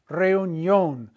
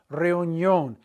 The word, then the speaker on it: reunión: By putting the accent mark on the O, we keep the diphthong intact and we get the yo sound, like the Rocky movie. Yo, Adrian. Yo, Adrian. Reunión. Reunión.